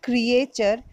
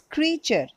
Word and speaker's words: creature: Creature, it's not creature, it's creature. A is silent over here.